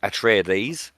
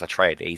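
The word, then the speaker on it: Atreides: Leo Tre of house atries it should be pronounced atraes because it's based on the Greek word is given control of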